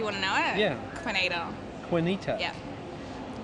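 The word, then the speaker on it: Kuinita: ah do you want to know it yeah quinita quinita yeah how do you spell that k u i n i t a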